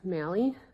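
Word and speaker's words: Maly: And please state and spell your For the record, my name is Mali. My first name is spelled J A N I C E.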